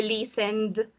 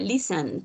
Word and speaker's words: listened: Entonces por eso aquí pronunciaría listened y no listened ni listened.